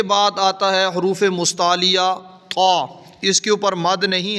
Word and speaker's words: طا: آتا ہے حروف مستعلیہ طا، اس کے اوپر مد نہیں ہے تو اس کو ہم نے لمبا نہیں کرنا، موٹا پڑھنا ہے۔ تا اور طا میں فرق ہے، تو یہ ہے طا طا۔ اس کے بعد حروف